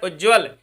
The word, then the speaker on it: उज्ज्वल: उत या उज्ज्वल, या इसका व्याकरण की दृष्टि से सही उच्चारण पूछा जा सकता है कि कौन सा शब्द सही है, तो उज्ज्वल। हमेशा दोनों आधे जा बनते हैं।